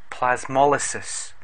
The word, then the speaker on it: plasmolysis: This condition in a plant cell is called plasmolysis and pronounced plasmolysis.